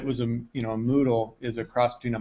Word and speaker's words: Moodle: of you know what's Moodle that sounds funny you know that rhymes with noodle what is that so